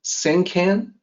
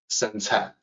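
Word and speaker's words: Sengcan: left, you might say Senkan. No, Sencai. The pronunciation can be a little tricky due to problems with the pinyin system, but it's not can. It's pronounced Cai.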